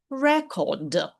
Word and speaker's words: record: Spotlight record наголос на перший склад, тому що це іменник. Якщо ми вимовляємо record, то це дієслово записувати.